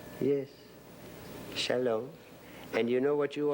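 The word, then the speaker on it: שלום: love and it's a lovely word and it's pronounced Shalom let me hear you say it Shalom yes Shalom and you know what you are in Hebrew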